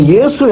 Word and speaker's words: இயேசு: இதை புரிந்து கொள்ள வேண்டும் சோ இயேசு என்றுதான் நம்ம சரியாக சரியான உச்சரிப்பு இயேசுதான் என்பதை நாம மறந்து போகக்கூடாது